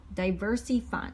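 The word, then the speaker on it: DiversyFund: We did CrowdStreet and diverse Diversey Fund. So it's spelled Diversy Fund, and it's not for diverse people. It's just called Diversey Fund, and it's pretty new crowdfunding, and they offer good rates and returns.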